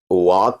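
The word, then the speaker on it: walk: तरह साइलेंट होती है जैसे वाक में एल साइलेंट होता है डब्लू ए एल के व जी जी जी वक मेल साइलेंट तो ऐसे ही अच्छी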